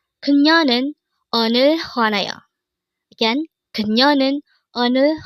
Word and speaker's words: 그녀: 그녀. 그녀. This pronounced as a two-syllable word. The first syllable is 그 and the second syllable is 녀.